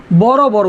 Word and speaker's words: বড় বড়: বড় বড়, উচ্চারণ কি হবে?